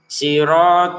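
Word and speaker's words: صِرَاطَ: Siratalladzina anamta alaihim sirat dua harakat saja.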